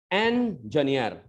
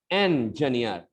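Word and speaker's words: engineer: इंजीनियर, ये देखिए मैंने उसको बांट दिया है। अब इसका जो गलत प्रोनाउंसिएशन है वो कैसे होता है, इंजीनियर। अरे बेटा इंजन नहीं बोलना है, इंजीनियर।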